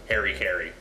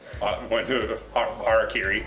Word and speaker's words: harakiri: Or as some weird Americans will pronounce it, Harry Carey. Harakiri.